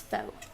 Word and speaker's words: faux: something called faux chipboard f a uux pronounce Fox okay I'm using it